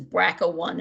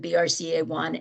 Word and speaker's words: BRCA1: publicity brca1 and brca2 often they're mispronounced as braco 1 and bracka 2. but the founder of those genes named them brca1 and brca2 so that's the correct presentation or reference for them now those genes like